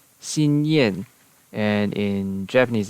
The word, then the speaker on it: Xinyan: And then we have Xinyan, which in Cantonese is Sanyim, Sanyim, and in Mandarin it's Xinyan, and in Japanese it's Xingyan.